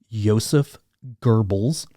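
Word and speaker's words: Joseph Goebbels: guy's name and everything i found says it's pronounced yosef goebbels he used it to make people think and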